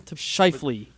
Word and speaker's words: Scheifele: Scheifele.